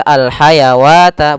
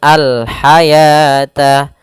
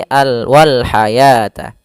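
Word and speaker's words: والحياة: dalam rasum Utsmani ya maka wa di sini bukan dibaca Al haawata Bukan tapi dibaca dengan Al haata bukan alwata sehingga ditandai di sini dengan warna abu-abu yaitu huruf wwnya dianggap tidak ada maka bukan kita baca Al Wal hawata tidak tapi Al Wal Hayata panjangnya kemudian di lafal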